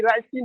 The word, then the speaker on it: ricin: लस्सा के तौर पर, लेकिन ये राइसिन है, स्पेलिंग वहाँ पे RSIN होता है, जिसको रैसिन को जहर मानो, है ना जी। समझा जी, दोनों अलग स्पेलिंग है। रैसिन नहीं पढ़ते प्लांट में, RESIN है, और यहाँ RICIN है।